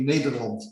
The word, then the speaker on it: Nederland: Netherlands, or as the Dutch say, Nederland.